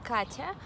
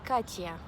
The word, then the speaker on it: Katya: So instead of saying my name as it should sound, like it sounds Katya, they would pronounce it like Katya. In all the languages independently, whether I'm studying in Chile or working in Malaysia, they would say Katya.